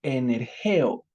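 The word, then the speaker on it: ἐνεργέω: es una palabra que en griego se escribe o se pronuncia como energeo y Qué significa esta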